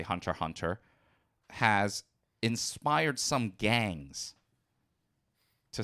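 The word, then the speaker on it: Hunter × Hunter: you pronounce it as Hunter x Hunter and I'm assuming then you also been pronounce as spy ex family right always uh officially they're both Hunter Hunter and spy family however while I do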